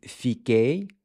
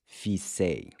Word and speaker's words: fiquei: With fiquei, the C gets replaced by QU. This is to preserve the hard C sound. Fiquei. Because without the QU, it would be pronounced fisei.